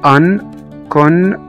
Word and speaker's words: unconscious: السي هنا جه بعد منها على طول i o، فقلنا unconscious. اخر ثلاث حروف اللي هم سي اي او قرأناهم كأنهم شين.